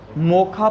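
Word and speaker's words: Mocha: मोखा पढ़ते हैं वैसे इसको, मोखा जो प्रोनाउंस करते हैं मोखा, और स्पेलिंग मोचा है।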